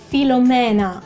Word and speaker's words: Filomena: We actually have Filomena, okay, spelled with E, so pronounced E in Italian, but it's kind of old that too.